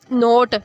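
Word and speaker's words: knot: अब देखिए यहाँ पे भी नोट, नोट होता है बांधना, गिरा लगाना, तो यहाँ पे एन से हम पढ़ते हैं इसको तो के हमारा साइलेंट चला गया, बिकॉज एन से पहले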